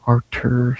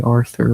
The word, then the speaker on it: Artur: he pulled out and Artur steps in. Now, I want to say Arthur really bad, but I got to say how it's spelled.